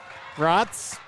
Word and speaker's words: Bratz: Number 13, Cameron Bratz. Rhymes with Bratz.